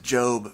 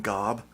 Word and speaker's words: Gob: one of the characters his name is job but it's spelled go o so people call him Gob when they just read it which is I think